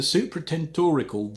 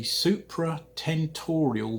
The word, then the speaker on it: supratentorial: also of the medulla the supratendorical the i don't think that's pronounced correctly hold on the supratentorial ventricles currently retain normal